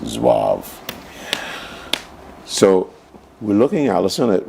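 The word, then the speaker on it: zouave: That's pronounced Zwave.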